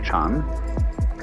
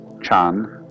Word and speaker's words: Chan: So then, this word Zen is Japanese way of pronouncing the Chinese word Chan, which in turn is the Chinese way of pronouncing the Sanskrit word jhana.